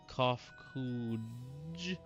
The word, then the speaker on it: Kofkuj: As for nomenclature to address my individual person, I believe it would be pronounced Kofkuj.